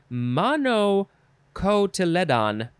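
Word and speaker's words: monocotyledon: the plumul okay fun words in this one mono cotyledon i know i'm pronouncing that wrong it is spelled m o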